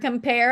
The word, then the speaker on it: compare: Because if you notice the word compare, I put a little dash right there. So that way you realize it's 2 syllables. So come is quieter and pair gets more emphasis or an accent or a little louder.